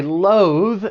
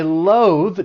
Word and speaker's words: loathe: Or I loathe driving in really bad weather conditions. For pronunciation, it's just the one syllable, but make sure you're using that voice TH at the end. Loathe.